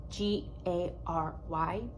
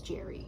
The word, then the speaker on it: Gary: I've known several people and they pronounce it differently, but it is G-A-R-Y, Jenkins. I'm gonna say Gary, although I have been yelled at by a patient because he said it was Jerry, and English is very confusing.